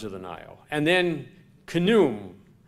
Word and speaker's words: Khnum: And then Khnum. I'm not sure if you pronounce the K and the H, but N-U-M, I'm sure you do.